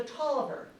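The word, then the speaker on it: Taliaferro: The Toiver, it doesn't look like it should be pronounced that way, but it is.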